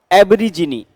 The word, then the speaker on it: aborigine: और मैंने इसका करेक्ट प्रोनाउंसिएशन आपको क्या कहा, एबरीजिनी, ABORIGINE, एबरीजिनी, a member of the race of